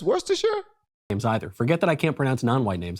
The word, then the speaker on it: Worcestershire: you can pronounce percar is that how you pronounce I thought it was where's the Shire Worcestershire maybe you're right I guess I can't pronounce whitening I thought it was Worcestershire it's Worcestershire games either forget that I can't pronounce non-white